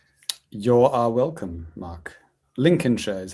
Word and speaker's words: Lincolnshire: Lincolnshire is how you pronounce that by the way.